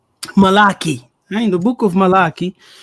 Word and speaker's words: Malachi: So, in the book of Melchiah, how do you say that? Okay. Melchiah, Malachi.